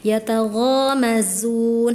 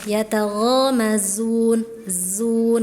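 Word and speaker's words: يتغامزون: Yatagomazun harusnya yatagazun zun gitu. Ada desisnya ya. tadi Hana kurang apa ya? Belum belum dapat gitu ya, masih ngambang. Yatagomazun jadi kurang kurang desisnya ya.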